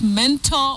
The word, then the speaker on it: mentor: The correct pronunciation is mentor, just like we say corridor, guarantor, or guarantor, guarantor, not guarantor as locally said.